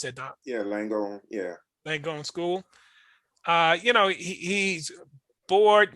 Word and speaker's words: Langone: Langone, how you pronounce that, Doc? Yeah, Langone.